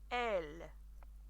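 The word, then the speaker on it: él: For he, el, but el. Bit more emphasis on the el.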